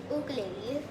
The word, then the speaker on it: ukulele: Actually, another fun fact, it's actually pronounced ukulele.